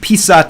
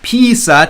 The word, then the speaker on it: писать: And definitely, писать is a word I made sure to learn the pronunciation of, because if you say писать, это что-то ранее, right? Писать and писать, это ранее слово, right?